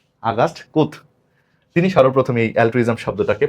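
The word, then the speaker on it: Comte: ফরাসি দার্শনিক আগাস্ট কোমতি না, এটার আসল উচ্চারণ হলো আগাস্ট কুথ।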